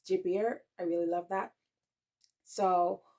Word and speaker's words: Gilbert: would be hre and I I will say Gilbert but in French it's jier I really love that